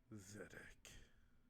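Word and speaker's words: Zadack: it was someone named zedek yeah that is spelled z-a-d-a-c-k so like zach but with the d-a in the middle vedic exact two that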